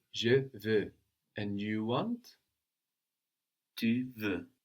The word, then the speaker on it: veux: But we don't hear this X because French doesn't tend to pronounce the consonants written on the ends of words.